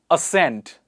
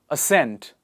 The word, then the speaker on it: ascent: conscience next one is ascent C is silent ascent what is the next